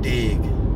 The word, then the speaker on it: DYIG: you're not incorrect in pronouncing it as dig because uh the truth